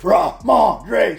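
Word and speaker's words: Rhamondre: and you know what you say it like this ra Andre Stevenson it has to come from deep down here when you talk about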